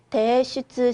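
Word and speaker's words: 提出: 기말 시험 대신에 레포토 대슈츠 시테 쿠다사이라고 되어 있네요. 레포트를 뭐 해주세요? 그렇죠. 제출해 주세요라고 하는 제출 한 번 더 읽어볼게요. 대슈츠 한 번 더. 대슈츠라고 읽으시면 됩니다.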